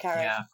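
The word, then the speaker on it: Carré: It's based on a John Le Carre novel, isn't it? Is that I'm pronouncing his name correct? Carey.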